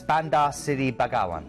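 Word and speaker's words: Bandar Seri Begawan: first Port of Call is brunai and it's Banda City bagaan that's uh that's how you pronounce it easy for you to say I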